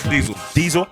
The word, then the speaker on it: Dzyl: Dzyl.